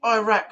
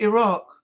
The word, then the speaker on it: Iraq: Why do I say Iraq like an American? He's been deported back to Iraq. It's supposed to be Iraq that we say it over here. Yeah. Americans say Iraq.